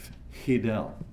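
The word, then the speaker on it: Hidell: Fidel, H-I-D-E-L-L. He invented this alias to rhyme with his idol, Fidel, A.J.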